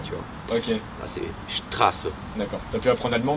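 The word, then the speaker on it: Straße: Ah, c'est Strasse, moi j'appelais ça Street. Strasse, parce que Street, c'est, ça serait en Angleterre ou aux États-Unis, ouais, ou au ça, Canada, ouais.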